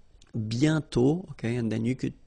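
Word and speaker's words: bientôt: mhm and then okay remember you put this a circlex but you don't write it oh you sorry you write it but you don't pronounce it and then the final day is not pronounced bio okay and then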